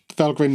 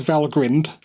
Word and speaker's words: Valgrind: i said it right so it is valgrind and not val grind as many people do say so you heard it